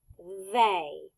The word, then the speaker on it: they: it's pronounced as a like the letter A but it's not spelled with the letter A it's spelled ey y remember since this